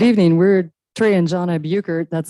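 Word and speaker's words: Buchert: We're Trey and John Buukert. That's spelled B U C H E R T.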